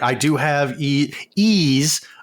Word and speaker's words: Ys: During the cast, you kept pronouncing it with a yee as in yeehaw, and it's more of an ease as in ease of use.